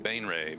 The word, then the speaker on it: Baenre: I just looked up how to pronounce it because you pronounce it b a n e {dash} r a y like ray gun.